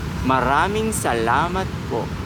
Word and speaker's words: maraming salamat po: so it's like maraming salamat po. Maranging Ma ra ra ming ming maraming salamat salamat po. po. Maraming Perfect. salamat po. Very good. Maraming salamat po.